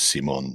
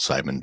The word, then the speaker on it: Simon: But we're going to be taking a look at Simon Miniatures. Oh, okay. And I believe it is Simon, not Simon, because he is, after all, French.